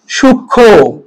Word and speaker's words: সূক্ষ্ম: তাহলে একটা জিনিস মনে রাখবেন যে যুক্ত বর্ণ প্লাস মফলা যদি থাকে এই মফলার উচ্চারণ হবে না। তাহলে দেখেন তো এটা কি হবে সূক্ষ্ম, ঠিক আছে, এটা উচ্চারণ কি হবে সূক্ষ্ম, তার মানে কি মফলার উচ্চারণটা হবে না।